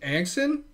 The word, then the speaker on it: Anxin: Then we had a girl named Anxin. I believe that's how you say it.